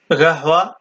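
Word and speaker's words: قهوة: হয় গা হওয়া গাহ গাহ এটাকে কাহ বলবেন না এটা বলবেন গাহ গাহ বাংলা অনুবাদ কাফি কাফি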